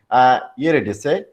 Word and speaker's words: Eurydice: Next to the sisters sit the nurse and Queen Eurydice. This is the pronunciation of it.